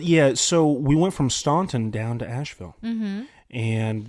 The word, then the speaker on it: Staunton: Is that how you pronounce it, Staunton? Yeah, it's Staunton.